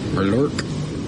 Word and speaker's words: Murloc: It's pronounced Mur as in murky, lore hard K. Murlork?